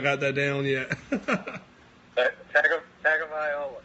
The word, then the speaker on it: Tagovailoa: And I was going to leave it to you to pronounce his last name because I've still not got that down yet. Tagovailoa. Tagovailoa.